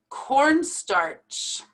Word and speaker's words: cornstarch: right my students so this is how you pronounce it corn starch with that r right there that we pronounce treasurer treasurer hierarchy hierarchy